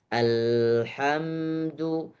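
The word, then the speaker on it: الحمد: Bagaimana baca yang benar? Alhamdu, alhamdu. Jangan sampai ada pantulan.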